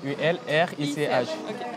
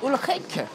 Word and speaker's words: Ulrich: U-L-R-I-C-H. Mais eux, ils prononcent Ulrich.